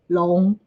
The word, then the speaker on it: 龙: But in Chinese, in Mandarin, dragon and dinosaurs, the pronunciation, the words we're using are kind of similar. For dragon, we say long.